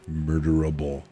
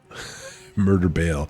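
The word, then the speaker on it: murder-bale: He did the more murderable murder bail. Oh, it's murder. Yes, not able.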